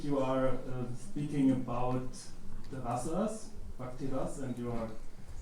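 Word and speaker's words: rāsa: So ras with a short a and the ras with a long a, ras.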